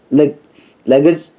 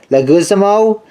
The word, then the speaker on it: Leguizamo: featuring the voices of Chris Rock John the lick legged how you pronounce it Leguizamo Norma Grotton na MacDonald Albert Brooks Gary's snarling